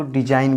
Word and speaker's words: design: DESIGN, यहाँ पर भी जी का उच्चारण नहीं किया जाता है, इसको डिजाइन बोला जाता है।